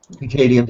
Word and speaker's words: Hegelian: Is it the Hegelian? How do you pronounce that? I can never quite pronounce that. Hegelian Dialectic.